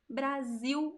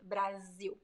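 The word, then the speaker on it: Brasil: with the letter S although the pronunciation is also a very zi strong Z sound Brazil Brazil but I write it with as the s sounds like Z between two vowels in Portuguese with boom where else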